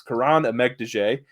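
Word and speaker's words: Kiran Amegadjie: Starting off here, I'll say his name because if you're a fan of the channel, you know Tyler struggles with pronunciations, but it's Karan Amegdije, the tackle from Yale.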